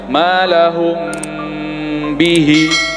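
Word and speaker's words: مَا لَهُمْ بِهِ: Perhatikan cara membaca mimnya. Silakan diperhatikan bibir saya. Malahum bihi. Nah, itu cara membacanya ya. Jadi nggak langsung ditutup, ada namanya bukaan. Malahum bihi. Posisi mimnya tuh seperti itu.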